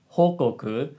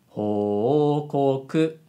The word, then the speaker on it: 報告: So, ho needs to have two moras. But the way she said 報告 sounds like ho just has one mora. So, that doesn't sound quite correct. It should be 報告 not 報告 So, remember this.